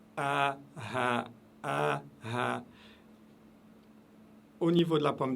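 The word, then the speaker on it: هاء: Vous avez le alif et vous avez le ha. Et c'est tout en bas de la gorge. Le son part de tout en bas de la gorge, en dessous de la pomme d'Adam.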